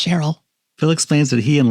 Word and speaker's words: Cheryl: When she gives Phil his coffee, he asks, "Is your name Sheryl?" "That's right," she says. Even though no one else pronounces it that way or ever will. It's Cheryl.